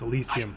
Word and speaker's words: Elysium: It's Elysium. I've been saying it wrong.